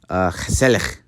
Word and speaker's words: gezellig: And then you have a word that looks like it says gezellig. It's actually pronounced gezellig.